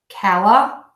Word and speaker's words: California: cow ah thorn yup California the mistake I hear the most with this word California is that people will say for me yeah yep there is no extra e on there four beats Cal thorn yeah California